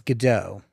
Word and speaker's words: Godot: you pronounce it uh I pronounce it as gdau so it's like waiting for gdau like got got some dough to make some cookies Sim